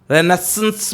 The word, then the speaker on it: Renaissance: The pronunciation is actually रेनेसां और रेनेसेंस के बीच का है, रेनेसेंस भी बोल सकते हैं आप, ओके। मैं इस बात वाले सर को बहुत बारीक बोलता हूँ, रेनेसां साउंड करता है मेरा, रेनेसेंस ये है राइट प्रोनाउंसिएशन।